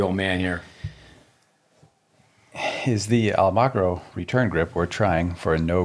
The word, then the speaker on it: Almagro: Almagro.